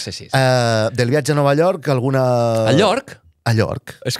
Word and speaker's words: Nova York: És Nova York. Nova York. No, York no. No cal que diguis ella. La Y no es pronuncia.